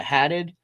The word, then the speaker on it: Haddad: Yeah, Haddad.